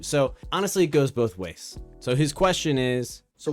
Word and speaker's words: は: honestly it goes both ways so his question is so why is hot pronounced what in this situation why is ha pronounced wa in this situation so I'll give you